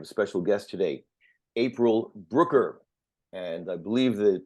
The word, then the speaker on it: Brucker: believe the pronunciation is Brooker and April has a little tip she said to help me remember it uh what is that tip the tip is um it rhymes with hooker and back in the